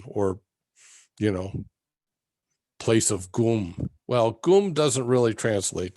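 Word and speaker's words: སྒོམ: you know this is a word gum so in english we'd spell it g o with an umlaut over it m gum in tibet where they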